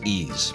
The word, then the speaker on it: Ys: uh what is that it's ease wow I've been saying it wrong all this time how horrible ease one and ease 2